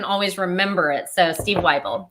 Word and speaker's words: Wible: because like you said it's steve like bible this is a great